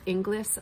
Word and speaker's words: Inglis: is by say her name correctly it's kate inglis i-n-g-l-i-s notes for the ever lost a field